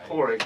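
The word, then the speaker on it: Pádraic: It's not spelt that way. Yeah. But I think it's pronounced that way. Porig, yeah.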